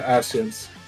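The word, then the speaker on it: Ascian: With the ashens?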